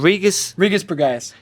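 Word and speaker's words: Regis Prograis: Regis Pagaez.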